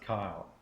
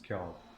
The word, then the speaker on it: Kjolg: That is not, it's not pronounced Kyle. It's Kjolg.